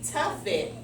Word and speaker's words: tuffet: Tough it rhymes with Muffet. Let me go back and reread that. Little Miss Muffet sat on a tuffet.